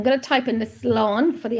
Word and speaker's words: slán: So I'm going to type in the slán for the accent. So slá in. So that's how you pronounce it. Slá in.